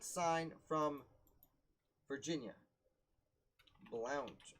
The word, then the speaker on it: Blount: not sign from virginia blount or blunt i've heard it's pronounced but that's funny so